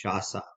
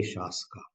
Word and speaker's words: Shaska: So when I looked at this word first, I thought maybe it's Shasa. But then I sort of looked on the internet on this site called How to Pronounce, and they suggested it was Shaska. So I'm going to say Shaska.